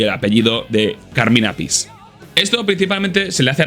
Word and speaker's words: Appice: responsable a Rod Stewart, que popularizó la forma de decir el apellido de su batería como Appice, y la confusión vino cuando Vinnie entró en Black Sabbath y dijo que realmente, como debía pronunciarse, era así, Vinnie Appice o Vinnie Appice.